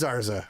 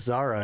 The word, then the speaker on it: Zarza: It is Zarza. Okay, yeah, no, I'm right. And there's Zeds all over the place. For a second, I thought you were right, and it was Zara, and I just kept saying it wrong.